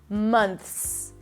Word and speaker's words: months: You start with an M sound, then the as in cup, m. Then you bring the tongue up for the N, mun. You stick the tongue out for the TH, month. It's a soft TH, allow the air to pass, and then you bring the tongue back in for the S, months, months.